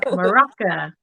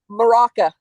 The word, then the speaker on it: maraca: of Mexico so yeah morocca no is it morocca how do you say it moraca moraca yep yep that's too funny